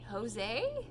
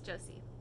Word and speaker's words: Josey: I pronounced Jose? No, EY. JOSEY. Oh! Yeah. Yes, Josie. Josie EY.